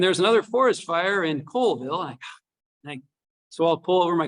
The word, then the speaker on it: Colville: Everyone said Colville? Did anyone say Colville? Be honest now. A couple of honest people in the room. It is actually Colville.